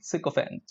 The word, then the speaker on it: sycophant: became a good he or she became a sycophant when he wanted his or her teachers to increase her marks to increases or her marks so sycophant is a fifth one sick event okay yes it in a way it means